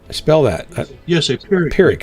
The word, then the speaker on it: Pyrrhic: He pronounced it like Gunfighter said, Pyrrhic.